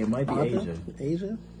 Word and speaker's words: Aja: Even though it's A apostrophe J A, it might be Aja. Aja? It's Aja.